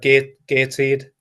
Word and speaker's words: Gateshead: if I'm wrong, but the correct perceived pronunciation in the northeast is Gatshead. Is that right? I've never heard that. But you've got the second part right. It's normally like Gateshead. Gatshead.